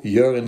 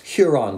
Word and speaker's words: Huron: steam el berman 102 urine street the address was written in yiddish as 102 urine street exactly the way my mother used to pronounce huron street much to her children's